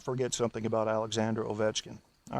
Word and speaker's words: Alexander Ovechkin: Alexander Ovechkin, pronounced in Russian Alexander Ovechkin, may not have gotten enough credit for his 2 goals tonight.